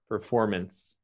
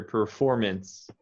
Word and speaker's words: performance: the end performance performance performance yeah i'm not hearing you make the s sound at the end try to make that a little stronger performance performance as a performance